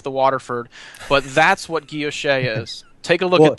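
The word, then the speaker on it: guilloché: The guilloche, and thank you for correcting me on the pronunciation.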